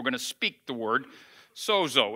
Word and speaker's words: sozo: in the new testament it's spelled s-o-z-o we would say if it was bozo the clown we'd say bozo or sozo but the greek word